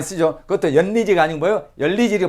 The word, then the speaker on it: 연리지: 요거 열리지라 그러죠. 두 나무가 합쳐진 거. 많이 쓰죠. 그것도 연리지가 아니고 뭐예요? 열리지를 발음해야 된다 이거죠.